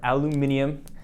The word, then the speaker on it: aluminum: Looks like some aluminum or aluminum as some of you like to say with some plastic on it.